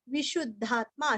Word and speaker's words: विशुद्धात्मा: विशुद्धात्मा, विशुद्धात्मा शूरस्व वीरस्व शूरस्व उद्धव का ध आत्मा का त्मा।